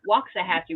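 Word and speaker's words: Waxahachie: pronounces the other one waxah hatchee and I pronounce it waxah hatchee which is how it's supposed to be well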